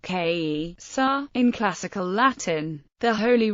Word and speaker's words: Caesar: Latin word for Caesar the word Caesar is pronounced K sa In classical Latin the Holy Roman Empire was